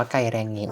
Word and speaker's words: Geiranger: ใน ภาษา นอร์เวย์ จะ อ่าน ออก เสียง ว่า ไกล แรงเงะ นะ ครับ สำหรับ ที่ นี่ มี สถาน ที่